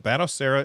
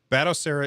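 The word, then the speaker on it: Batocera: what's he talking about battle Sarah is another operating system essentially and so if you want to do that then you are you dual boot over to I think I'm saying it right batasera and what did I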